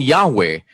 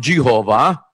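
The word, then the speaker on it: Yahweh: nila kapatid na Daniel while inclining to view the pronunciation yahwe as the more correct way we have retained the form Jehovah because of people's familiarity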